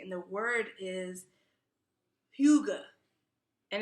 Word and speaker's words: Hygge: And the word is Hyuga, and it's spelled Hygge, and it's a Danish word, and it's pronounced Hyuga.